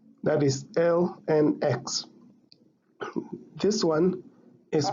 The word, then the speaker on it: ln x: most commonly written as ln x, that is lnx. This one is pronounced as ln x.